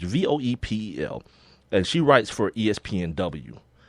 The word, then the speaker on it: Voepel: I want to say her name is Voepel. It's Voepel, and she writes for ESPNW.